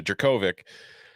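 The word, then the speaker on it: Jurkovec: with that and stop getting the name off pronounced in my whole life so jerkovic i'm still taking florida state this week because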